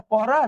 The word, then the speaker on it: পরান: যদি বলি যে পরান এটা পরান নাকি পরানো। এটার উচ্চারণ হবে পরানো।